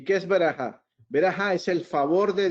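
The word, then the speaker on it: ברכה: La palabra bendición viene de una palabra en hebreo que se pronuncia verajá. ¿Y qué es verajá?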